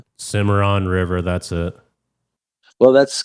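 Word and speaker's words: Cimarron: The Cameron River. Oh, Simmeron. Simmeron River.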